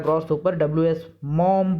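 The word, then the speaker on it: Maugham: WS मॉम पढ़ेंगे इसको, मॉघम नहीं पढ़ेंगे, GH साइलेंट रहेगा यहाँ पे, WH मॉम।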